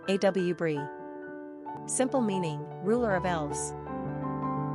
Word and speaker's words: Aubri: Quick Facts on Aubri Gender, girl Origin, American Number of syllables, 2 Ranking popularity, 849 Pronunciation, A W Brie Simple meaning, ruler of elves Characteristics of A U B R I Loving, sensitive, compassionate, family-oriented, community-minded, humanitarian, affectionate.